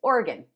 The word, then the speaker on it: Oregon: pronounce that um and Oregon I had to be corrected by a native Oregon orgonite oratoni Oregonian I don't know that's how you and don't say or it's organ organ organ like the organs in